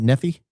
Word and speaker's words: Nephi: Uh, number one fan and friend from Nei, Utah. Did I pronounce that right? Nephi.